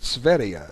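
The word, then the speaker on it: Sverige: that part of the world they pronounce it svia it's spelled a little different too look it up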